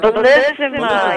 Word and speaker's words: Bellissima: Toward the end of your show, I don't know if I'm pronouncing it right. I'm not Italian. Bellissima? Am I pronouncing that right? Bellissima. Yes.